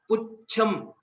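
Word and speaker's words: पुच्छम्: If you see, while I'm pronouncing, I'm not saying it as Pucham. It is Pucham. Cha is a Mahaprana here, and it is also a Samyuktakshara, Ch and Ch. While we are pronouncing, we give a small pause or a bit extension after Pu.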